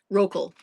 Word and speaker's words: Roekle: Roal.